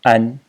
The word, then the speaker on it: 安: So the title phonetic character in the entire series is this character, which is pronounced an in the first tone.